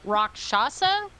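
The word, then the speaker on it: Rakshasa: answer is no I'm not confident in that rock shasa that's correct na it can I roll religion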